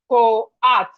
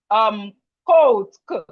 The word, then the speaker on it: coat: And let me assume you will now call this one maybe co-art. Co-art because you see COAT. No, this O and A, please pronounce it together.